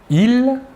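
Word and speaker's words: ils: tout d'abord le masculin il la S finale ne se prononce pas et le pronom personnel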